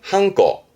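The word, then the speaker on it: 判子: 일단 발음은 한꺼.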